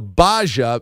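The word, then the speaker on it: Gbaja: It's the Baja since it's spelled G B AJ A that really throws you off.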